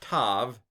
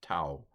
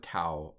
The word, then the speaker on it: tau: I heard one fellow say tav, but I've heard more often that this diphthong is pronounced tau. Ow, ow, ow. So I'm going to go with tau on this one.